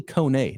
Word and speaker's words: Kone: It's actually Kone, not Cone. So Kone is how we pronounce it.